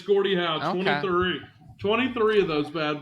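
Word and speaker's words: Gordie Howe: well Chris said it and it and it's pronounced Gordy how oh it is Gordy how it is Gordy how you didn't lock it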